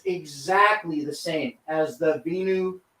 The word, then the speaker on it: Venu: the same as the binu 2 or venue 2. I think it's pronounced venue and that's what I'll say from now on but the Garmin venue